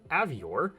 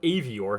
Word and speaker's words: Avior: Today's card is going to feature Avior or AOR, however you want to pronounce it.